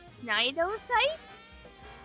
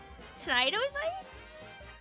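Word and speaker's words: cnidocytes: How do you pronounce a C and an N next to each? SN snidosites. Snidocytes that kill fish and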